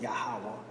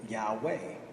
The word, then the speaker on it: Yahweh: the God was calling Yahweh of course others pronounce it Yahoo Oh Yahoo but it is still Yahweh all right now in